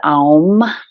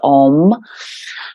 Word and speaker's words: AUM: final bija Mantra is Alm a u m sometimes referred to as Om but it's an arm and that controls the